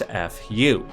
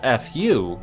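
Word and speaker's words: ふ: should be noted that when pronounced the sound that is made is not F rather it is a sound that is somewhere between a f and a h like this this is partially because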